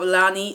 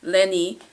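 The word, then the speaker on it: Lennie: that kind of deal and then you have Lonnie Lenny Lenny to pronounce his name right Lenny and he is the Giant and also he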